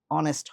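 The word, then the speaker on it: honest: অনার্স হনার্স বলি নাই অনেস্ট হনেস্ট বলি নাই সেগুলার ক্ষেত্রে আমরা কি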